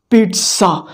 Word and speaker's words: pizza: The right pronunciation of this word is pizza.